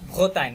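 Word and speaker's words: Bretagne: এখানে জিটা কিন্তু সাইলেন্ট, হ্যাঁ? ভোতাইন হবে, ভোতাইন না।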